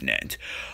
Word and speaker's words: gnat: you are a gnat it's a g silent it's nant are you calling me